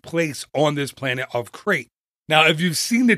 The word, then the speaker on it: Crait: You can now visit the Planet of Crate, that's spelled Crait, during Star Tours.